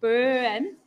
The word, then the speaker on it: Boen: the festival is and now we've got Karen Bowen with us uh did I pronounce the your last name correctly boom yes yeah I think this is the as